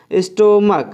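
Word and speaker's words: stomach: तो जैसे अभी हम एग्जांपल देख लेते हैं इसका, स्टोमक। देखिए यहाँ पे CH का जो प्रोनाउंसिएशन है, जो उच्चारण है, वो क्या निकल रहा है, क निकल रहा है,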